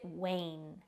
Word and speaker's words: wane: Wayne we pronounce it Wayne be extra careful with that W sound make sure it is not an R sound or it will sound like the word rain Way Wayne is a